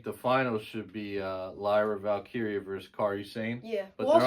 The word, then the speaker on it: Lyra: two that could win is it Lyra or lra it's Lyra some people say it